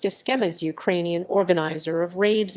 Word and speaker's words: Cxema: Cxema. Cxema, pronounced Skhema, is Ukrainian organizer of raves in urban spaces in Ukraine and Europe.